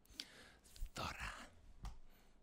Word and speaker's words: Zorra: Excuse me, it's not Zorra, it's Zorra.